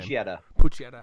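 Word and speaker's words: Pochita: How do you pronounce that thing's name? Puccietta. How did you like Puccietta?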